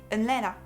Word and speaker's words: Atlanta: quand j'étais étudiante, et en Caroline du Sud on ne prononce pas les T, donc vous n'allez pas dire par exemple Atlanta, mais Atlanta.